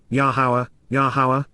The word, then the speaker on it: Yahowah: Which, Asher, Yahowah, the proper pronunciation of the name of Eloah, God has directed in